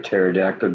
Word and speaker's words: pterodactyl: a horse can't hear a pterodactyl going to the bathroom because the PE is silent that's good Vlog about